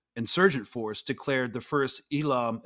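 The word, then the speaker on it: Eelam: Force declared the first ilam is that how you pronounce it uh Elam War perfect y okay okay uh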